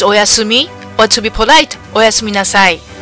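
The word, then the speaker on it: おやすみなさい: It's oyasumi, or to be polite, oyasumi nasai, which sounds like oyasumi, or oyasumi nurse.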